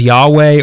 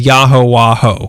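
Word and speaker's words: Yahowha: Other religions have claimed it's pronounced Yahweh or Jehovah, as in Jehovah's Witness. Yeah. But in February 1974, Father Yod claimed he had cracked the code and that he had found the true pronunciation, and that was Yahowaho, the true name of God. He claimed it meant Yah, fire, Ho, water, Wah, air, and Ho, earth.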